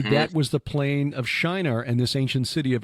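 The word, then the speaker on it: Çınar: Anyway, this location in southern Turkey is Shinar. It's just spelled with a C with the circumflex below it. C circumflex I-N-A-R.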